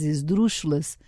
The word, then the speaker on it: esdrúxula: Todas as palavras esdrúxulas, como os sentimentos esdrúxulos, são naturalmente ridículas. Nota de rodapé. Esdrúxula. Palavra proparoxítona. Ridícula, por exemplo, com acento na antepenúltima sílaba.